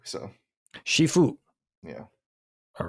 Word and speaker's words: Shifu: the only problem is in the west it sounds too much like seafood I think people could